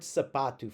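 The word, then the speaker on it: sapato: You notice that it has two A's in it, right? We're gonna have an open A sound. That second A that's that's in bold here in my example um is going to be like the it's not quite like bad, but it's as close as I can get it.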